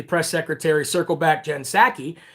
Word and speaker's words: Psaki: secretary, circle back Jen Psaki. The P is silent, like in Resident Biden.